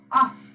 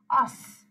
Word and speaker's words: os: Actually, although yes, normally we are not reading S's at the end, here you have to pronounce it us, us.